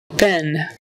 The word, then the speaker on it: been: I'm in second place Ben Ben spelled with two e but we say it like a short eye Ben Ben so I